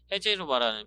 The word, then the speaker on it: Reserva: 그러니까 포르투갈은 리제르바를 하솔바라고 발음을 한다는데, 와인 분석과 블라인드 심을 통과한 우수 품질의 와인에 헤제르바라는 표기를 두고 있다고 합니다.